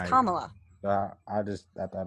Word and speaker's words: Kamala: her name yeah because i've been hearing it pronounced kamala the whole time yes no it's kamala uh i just i thought it was come out okay but so kamala um there's a video